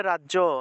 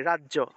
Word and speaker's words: রাজ্য: আমরা এটা উচ্চারণ করি রাজ্য রাজ্য উচ্চারণ করি বাংলায় কিন্তু উচ্চারণটা হবে রাজিয়া রাজিয়া দিব্যায় নৃত্য নৃত্য